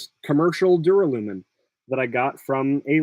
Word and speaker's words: duralumin: My original pronunciation of this, I pronounced it as duralumin, and I think that's way more fun. Duralumin. It gives you the liquid U, which is just more fun to say, and I think